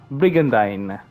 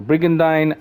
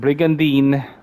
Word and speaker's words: Brigandine: the game itself will tell you that it's pronounced as brigandine by way of the voice actors during the cutscenes so brigandine not brigandine as people call it let's see now